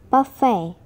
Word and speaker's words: buffet: British people always pronounce the T, but in some words we are not supposed to pronounce it. They are listen, listen, castle, castle, buffet, buffet, soften, soften, ballet, ballet.